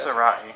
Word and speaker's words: Sarai: Sarai. Sarai is how you say it.